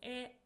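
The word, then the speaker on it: へ: Particle E. So this is a direction particle. It is pronounced as e but we write it as hiragana.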